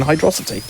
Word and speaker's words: Hydrosity: I guess just remember it's the viscosity viscosity of the water that makes you struggle with your velocity when running in hydrosity it's true and that's how you remember how to correctly pronounce it it's a he no